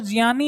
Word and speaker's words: ज्ञानी: है संजा है ना जैसे हम किसी को बोलते हैं ना ज्ञानी वो ज्ञानी नहीं होता ज्ञानी की जगह वो क्या होता है वो जनी होता है जनी का